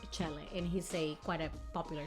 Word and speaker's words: Chele: I've been pronouncing it as shell, but apparently it's Chele, and he's quite a popular chef in the Philippines.